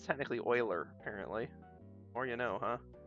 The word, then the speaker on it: Euler: Although I might be mixing it up with Euler, U-L-E-R, which I've always called Euler, rhyme it with Ferris Bueller. But it's technically Euler, apparently.